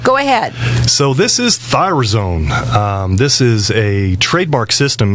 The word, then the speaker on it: ThyroZone: ThyroZone.